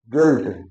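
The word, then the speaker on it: guilt: जैसे बिल्ड, यू आई के बाद एल डी आता है, तो ई का उच्चारण है बिल्ड। गिल्ट माने अपराध करना, बिल्ड मीन इमारत बनाना है।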